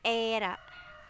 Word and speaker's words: ra: Entong yang ketiga eh yang ada komanya itu ra Bukan erat tapi ra yang ketiga yang keempat